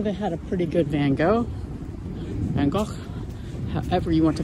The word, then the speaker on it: Van Gogh: dutch i'm american i grew up caught in van gaal germans tend to claim so people say my name wrong all the time too that's just how